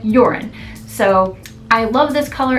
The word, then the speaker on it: Jorunn: And I looked up how to pronounce it and it sounded like they were saying Jorunn. Not urine, but Jorunn.